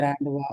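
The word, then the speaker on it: rendezvous: இது ராண்டுவா. இங்க பாருங்க, G silent. ராண்டுவா. You silent. You எஸ்மே வரும் இல்லைங்களா? ராண்டுவா அப்படிங்கிறது.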